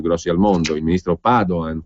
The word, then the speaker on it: Padoan: al mondo Il ministro Padoan con l'accento sulla prima a naturalmente lo ha incontrato recentemente